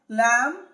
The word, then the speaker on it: lamb: Yes, whenever we find MB at the end of any English word or in the middle of an English word, the B must be silent letter. Thumb, bone, climb, lamb, dumb, flama, succumb, num, tomb, limb, crumb.